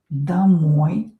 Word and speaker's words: домой: домой О not stressed pronounce it а.